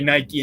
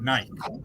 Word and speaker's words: Nike: It's just weird that I say Nike and you say Nike.